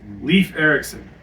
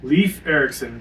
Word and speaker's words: Leif Erikson: Leaf Erikson. That's perfect. Leaf Erickson. There you go. Leaf Erikson. Just spell it Leaf.